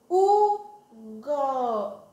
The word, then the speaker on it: Hugo: Porque H-U se lê U. E tenho a sílaba Go. Olha só. Quando eu junto elas duas e falo rapidinho, primeiro U, depois Go. Eu vou formar uma palavrinha, sabia? Ó. U, Go. U, Go.